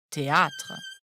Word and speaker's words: théâtre: vient du latin Theatrum le rôle de l'accent circonflexe est ici d'allonger le a il faut donc prononcer théâtre en France et notamment